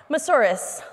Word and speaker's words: Moussouris: fifth or seventh time mas horas like a dinosaur and I made t-rex arms for the Senators so that is how I taught them how to pronounce my last and KTM asaurus rex it's